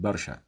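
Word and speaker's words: برشا: For example, the word very in the Egyptian slang pronounced awi, while in the Moroccan slang pronounced bezaf, and in the Tunisian slang pronounced barsha.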